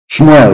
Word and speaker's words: Shmuel: Shmuel, of course, correct pronunciation.